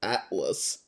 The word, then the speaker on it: ATLVS: I've noticed there's a couple of bands here in Australia that the upside down V is actually an A. Like I can think of one out of my neck of the woods called Atlas, where it's ATLVS, but Yep.